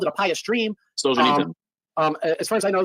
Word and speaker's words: Solzhenitsyn: Now they're already Alexander Solzhenitsyn, how do you pronounce his name? He called it a pious dream. Solzhenitsyn.